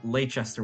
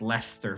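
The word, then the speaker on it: Leicester: to actually pronounce stuff it took me so long to realize that leester was pronounced Lester for whatever reason that's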